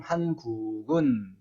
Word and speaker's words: 한국은: 쓸 때는 한국은 이라고 쓰지만 말할 때는 한국은 이라고 말해야 합니다.